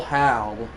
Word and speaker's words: Hal: Hail Hal. Sounds like I'm saying a bad word, but I'm honestly not. 3 watching. It's spelled H-A-L.